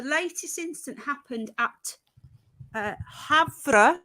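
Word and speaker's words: Havre: incident happened at uh havra is how you say havra airport in Montana not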